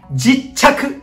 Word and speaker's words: 勢理客: はながらパンッさあなにこれ正解は勢理客でございます勢理客誰が付けた